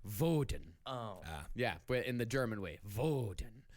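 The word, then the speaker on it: Wodan: you want to freeze your enemy except it's pronounced vodan yeah in the German way but that's some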